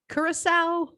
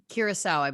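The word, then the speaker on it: Curaçao: how to say this is it croco curacao curacao it is so it's like the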